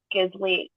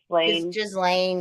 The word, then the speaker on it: Ghislaine: Like, what was that the Maxwell Gisley? How do you say it? Ghislaine, yeah, whatever her fucking name is.